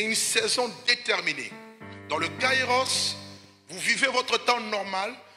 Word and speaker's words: kairos: le temps vous avez le prononce plutôt le kaïros le kairos c'est un temps métaphysique